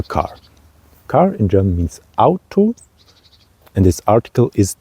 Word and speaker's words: Auto: we have a car car in German means out to and this article is D so it's neutral